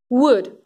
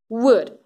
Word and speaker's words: wood: Away, wagon, where, wood, that's the problematic word we always teach and students tend to mispronounce. So pay attention to this, wood, wood.